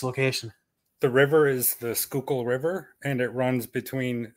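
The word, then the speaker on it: Schuylkill: a thousand times already what is the proper pronunciation of this location the river is the skookul river and it runs between skookul County at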